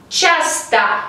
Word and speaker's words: часто: Часто. La última letra O no está acentuada, por lo tanto se pronuncia como A.